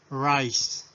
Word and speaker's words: rice: palabra en inglés pronunciación rice recuerden esta ere siempre levantamos la lengua hacia el palabro superior y profundizamos la lengüeta parís wright en todas las palabras en inglés debemos hacer eso rice ok continuamos traducción